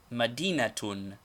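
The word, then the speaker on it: مدينة: a case ending and the word is pronounced similarly madinatun medina a city for example al-madinah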